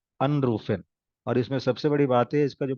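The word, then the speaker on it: anrufen: ये अन है, सेपरेबल है, तो इसको जो स्ट्रेस रहेगा ये फर्स्ट वाले सिलेबल पे रहेगा। अनरूफन, यू कैन से अनरूफन, यू कैन से आइनलाडेन, नो, आइनलाडेन, अनरूफन, ठीक है, फाइन।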